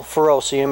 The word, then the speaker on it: ferrocerium: but it's just a certain type of metal furoseum it's spelled ferrocerium but what's cool about it is